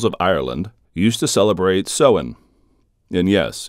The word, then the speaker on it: Samhain: ancient Celtic peoples of Ireland used to celebrate seen and yes it's spelled samhan or saman but it's pronounced SE